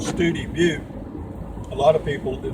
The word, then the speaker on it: Study Butte: If you come from Alpine on 118, you'll come in through a little town called Studi Butte. A lot of people, it looks like Study Butte, but they pronounce it Studi Butte.